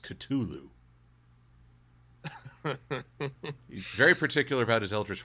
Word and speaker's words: Cthulhu: supposed to be pronounced Cthulhu very particular about his Eldridge Horrors I'm guessing he thinks the H is silent well in some ways